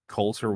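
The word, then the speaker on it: Colter: Coulter Wall. Coulter Wall. How do you spell it? C-O-L-T-E-R. Oh, just the way it sounds.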